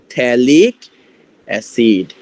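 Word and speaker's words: phthalic acid: থ্যালিক অ্যাসিড, ঠিক আছে? পিথ্যালিক অ্যাসিড, পিটা এখানে সাইলেন্ট থাকে।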